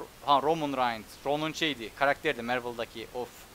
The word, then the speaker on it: Roman Reigns: Şöyle okunuyor bilmeyenler için. Şöyle. Ronan Reigns. Roman Reigns.